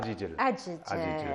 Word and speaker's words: Jijel: Et aujourd'hui, on va à Jijel. Bon, les Jijiliens la prononcent Jijel. Jijel, c'est très important de dire Jijel.